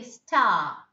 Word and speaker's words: star: ask okay task star no pronunciation of r is coming so it is star okay r is silent there that's why you can just prolong it and say star okay then comes um o